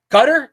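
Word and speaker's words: Qatar: one I forgot the name of the one gutter cutter are they the ones with cutter cutter is how you pronounce it it's a a GQ sound it's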